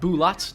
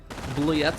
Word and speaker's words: Bulat: of my uh pronunciation it's bulat not bullied evaporating the mortar there